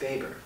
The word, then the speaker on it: Weber: in talking about economics and politics is Max Weber and Max Weber spelled with a W pronounced like a deed weber